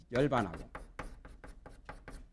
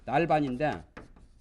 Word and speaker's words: 열반: 생사를 전환해 가지고 이 열반하고 불교에서는 발음을 열자로 합니다. 날반인데 열반이라 또 전 번외하여 이 보리 그러니까 보리 열반 이게 이제 성불할 때 얻는 바 두 가지죠.